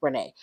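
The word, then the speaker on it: Rayne: is finally leaving Nigeria not rain Renee it spelled like rain but it's Renee she's finally leaving Nigeria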